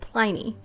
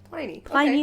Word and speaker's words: Pliny: They said Pliny. Pliny Okay.